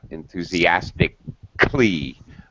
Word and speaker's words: enthusiastic: usually it is not enthusiastic i totally dropped the syllable that's called the drop syllable i do not pronounce that vowel sound enthusiastic glee okay another